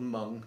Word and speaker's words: Meng: probably go for Meng I know it's called mung but in English it's spelled Ming so I'm going to call it Ming um is to say